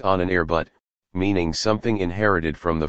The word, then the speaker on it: Ahnenerbe: Its name derived from a rather obscure German word, Ahnenerbe, pronounced Ahnenerbut, meaning something inherited from the forefathers.